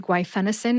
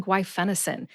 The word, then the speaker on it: guaifenesin: do is practice saying gu fenison and you'll Master it too look at the written pronunciation with the emphasis on Fen in the show notes